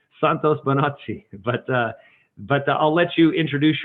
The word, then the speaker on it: Bonacci: And so I pronounce it more Italian. So Bonacci is what I would say. Santos Bonacci.